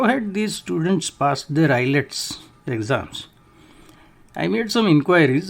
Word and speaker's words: IELTS: pass an exam called IELTS pronounced islets with at least a minimum score so how had these students passed their eyelets exams I made some